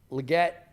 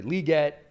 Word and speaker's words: Legette: the off the release or at the break Legette sorry liette finds that separation at the catch Point um